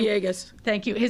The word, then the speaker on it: Villegas: Alderman Villegas, I'm mispronouncing his name. Villegas.